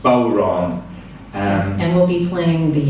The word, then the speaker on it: bodhrán: The bodhrán is spelled B-O-D-H-R-A-N and is pronounced bodhrán.